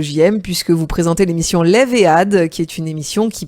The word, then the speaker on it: Lev Ehad: C'est bien ça, enfin l'émission exactement c'est Lève et Ad. Ah pardon, voilà, le H, oui moi je le prononce à la française évidemment. Il n'y a pas de problème. Et vous à l'israélienne.